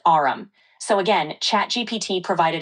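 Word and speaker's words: aurum: It's pronounced arum.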